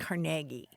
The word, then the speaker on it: Carnegie: at again again caragi carnagi carnagi Accent on the second syllable with more of an a than a e right so the Carnegie Hall that exists in